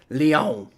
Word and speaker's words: Lyon: Pronounced Lyon.